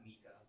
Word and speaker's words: Micah: I know, you would pronounce that Mika. But actually, I've heard it pronounced both ways. So Micah can eat 21 hot dogs in 6 minutes.